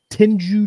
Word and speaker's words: Tengu: Tenju Dreams, is that how you pronounce Tengu?